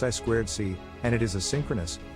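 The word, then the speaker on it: I²C: means inter integrated circuit it's pronounced i squared c and it is a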